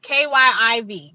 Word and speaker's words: Kyiv: How to pronounce Kiev? Kiev. It's Kiev. Kiev. It's Kyiv.